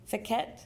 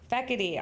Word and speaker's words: Fiquette: Accepting the award are Fiquette. Is that right? How do you say it? Feckety, all right, Feckety and Pacific Porter from McBride Elementary School.